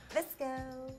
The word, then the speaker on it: Visco: Visco. All right. You have to say it like that. Visco. Visco. It's Visco. Very manly.